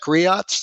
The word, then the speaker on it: Griot's: Was that Griots that you worked for them? You said?